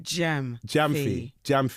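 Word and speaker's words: Gyamfi: Oh, Gamfi. My boy, what? Gamfi? Jamfi. Akua, that's how you say it.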